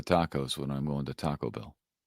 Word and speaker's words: Taco Bell: Taco Bell. Bell's the is the word that you hit in that. Oh, no. I hit the tacos when I'm going to Taco Bell.